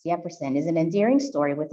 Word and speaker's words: Yefferson: He whom we'll call Yefferson will take no other pronunciation, and this is what makes him oh so sweet. Yefferson, actually, en realidad es Yefferson, is an endearing story